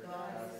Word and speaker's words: goddess: Which one is emphasized? Okay, how many syllables, first of all? 2. Goddess. Okay. So we've got one line between the 2 syllables. Which one do you say harder, God or des? Des.